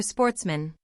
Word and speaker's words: Sportsmen: good family who were Sportsmen a French word pronounced with the accent on the men the only trouble was